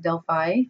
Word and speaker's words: Delphi: This photo here is of the ruins of an ancient Greek city called Delphi, sometimes pronounced Delphi.